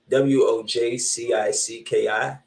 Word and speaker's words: Wojcicki: I can't pronounce it. W-O-J-C-I-C-K-I.